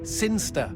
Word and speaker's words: Sinister: It's pronounced Sinster.